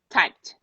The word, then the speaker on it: typed: the other one tight typed type no vibration you go straight to t typed typed typed okay